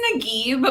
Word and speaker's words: Nagib: I've got Nagib. Is that right? She just literally told me how to say this. It's Nagib, but nobody gets it right, so it's totally fine.